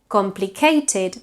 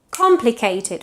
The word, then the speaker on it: complicated: Complicado tends to be pronounced in English complicated, but it's complicated with a stress at the beginning, yeah?